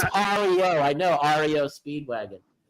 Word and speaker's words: REO: No, he wrote Rio, but he wrote Rio, man. Okay. Hold on a second. Hold on a second. Hold on a second. R E O. It's It's spelled Rio, but it's Ario.